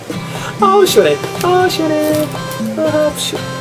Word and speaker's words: 시원해: Ah, 시원해. Ah, 시원해.